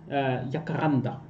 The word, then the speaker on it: Jacaranda: How do you pronounce it? Jacaranda.